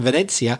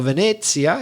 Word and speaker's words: Venezia: slightly altered version of the italian word venezia forgive my bad italian pronunciation venezia which in english would be venice because when the italian